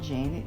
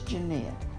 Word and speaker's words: Janet: janet and curtis cox it's not janet it's jeanette it's spelled j-a-n-e-t but her name is jeanette and curtis cox he